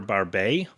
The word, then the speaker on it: Barbet: Uh I have Baffomet's Meteor by Pierre Barbet. Since it's spelled Barbett, but because his name is Pierre, I'm assuming it's Barb.